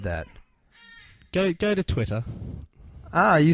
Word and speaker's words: Twitter: that go go to Twitter ah you said it again you actually pronounced the two T's in between that's wonderful Americans are too lazy Twitter Twitter we say Twitter Twi to to be